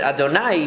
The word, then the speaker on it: Adonai: And the way that we pronounce it, Adonai, means that God is the master of the universe.